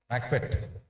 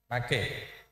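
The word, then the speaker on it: Maquet: MACPET. T is silent. So, how do you pronounce it? MACPET.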